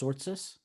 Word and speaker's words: Tzortzis: it yeah no basically you put the t and the z together quite fast so it's